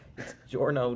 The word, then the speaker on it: Giorno: do you say it it's just like a j sound Giorno Giovanna just a regular J sound chorno Giovanna okay I did